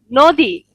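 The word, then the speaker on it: নদী: Nodi. That means river. River. Do you know Nodi? River. Yeah, it's not a nadi. In Marathi we pronounce it nadi, nadi.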